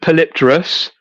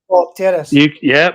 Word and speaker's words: Polypterus: Okay, so most people call it Polypterus, because if you look at it, it looks like polyp and terrace. That's how I pronounce it. Polypterus. Polypterus.